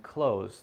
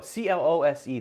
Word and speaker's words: close: your eyes your eyes the other one which is about how far away something is is an S sound there's no the same